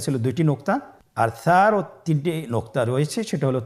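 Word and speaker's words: ث: সা হরফটির মাখরাজ হলো উচ্চারণের স্থান জিহ্বার আগা সামনের উপরের 2 দাঁতের আগার সঙ্গে লাগিয়ে উচ্চারিত হয়।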